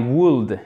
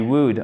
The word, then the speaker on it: would: Le L, on ne le prononce pas, d'accord? C'est pas I would, c'est I would, OK?